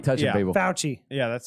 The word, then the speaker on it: Fauci: Anthony Fauci de faction I don't like touching people pouchy yeah that's how you pronounce he declared all that close physical contact